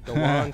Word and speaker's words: DeJuan: DeJuan. DeJuan. That Q is silent. Okay, a silent Q. Yeah, it's Okay. DeJuan. DeJuan Coles, got you.